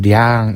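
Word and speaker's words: 兩: 자, 우리나라에서는 량 이렇게 읽고 중국어 량, 일본어는 료라고 읽고 있습니다.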